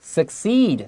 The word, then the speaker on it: succeed: Succeed 这个字就是成功，它是动词，要小心它的发音。Succeed 前面 C 是 K，后面 C 是 S。